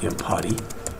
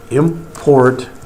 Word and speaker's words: import: All right, we can come up here and we can say import, not impotty, import, and you can say it like this.